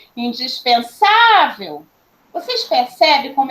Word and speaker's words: indispensável: a sílaba tônica porque se eu chamá-la eu vou falar assim ó indispensável vocês percebe como é